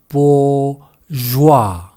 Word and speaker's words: bourgeois: 우리말로는 부르조아라고 하지만 영어로는 bourgeois 또는 bourgeois라고 합니다. 뒷부분의 발음 가 까다로운 편인데 garage라고 하지 않고 garage라고 하듯이 genre라고 하지 않고 genre라고 하는 것처럼 joie가 아니라 joie 그래서 bourgeois가 아니라 bourgeois라고 발음을 하고요. bo의 모음은 po의 모음과 같습니다. poor 그래서 bourgeois 또는 bourgeois라고 한다는 거죠.